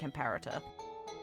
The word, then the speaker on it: Imperator: What do you think, Imperator? I hate that people pronounce it Emperor.